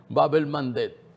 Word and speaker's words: Bab el-Mandeb: ahorita tengo algunas informaciones precisas, el estrecho de Bab el-Mandeb, ya por fin lo pronunció bien, Bab el-Mandeb, ahí en el Mar Rojo, que les decía